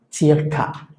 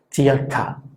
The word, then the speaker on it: circa: Entonces esta palabra se pronunciaría circa, circa, que se podría entender como aproximadamente.